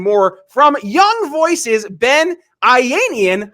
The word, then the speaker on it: Ayanian: get often asked and then he pronounced it ianian and I said oh it rhes with Iranian and that's how my